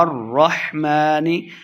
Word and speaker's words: الرحمن: نہیں کریں گے، بینہما الرحمن، میم کو را کے سامنے لانا ہے، را مشدد ہے۔ الرحمن، ہا کو تلفظ سے پڑھیں گے، ہا اور ہا میں ہم نے فرق کرنا ہے۔ الرحمن، میم کے اوپر